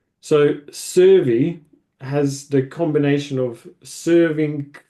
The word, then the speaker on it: Syrvi: Have I said that right, Servia? What does Servia stand for, first of all, actually? So Servy is how it's pronounced, or how we pronounce it anyhow.